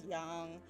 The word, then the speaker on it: Yang: all their names I I know Yang is supposed to be pronounced as young but just sounds wrong when I say it but I know I should be saying it nonetheless so forgive me um I